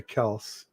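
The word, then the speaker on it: Kelce: because everybody kept saying Kelsey, even though it's Kels, and I didn't want to correct them, so I just said, "Okay, fine. Our last name is going to be Kelsey."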